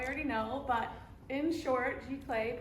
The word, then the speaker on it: Giclée: Many of you probably already know, but in short, Giclée, pronounced Giclée, is a high-quality inkjet print made using archival pigment-based inks.